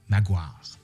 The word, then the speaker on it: Maguire: Un de ceux qui va fustiger et corriger la langue d'ici est Thomas Maguire, comme on devrait le prononcer, comme la rue là, à Québec. À Québec, on dit Maguire.